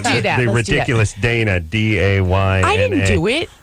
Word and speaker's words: Dayna: What you just said, Danya, Danya, Denisha, Right. Whatever. It's never. Nobody ever gets it right. And it's really very simple. Dayna.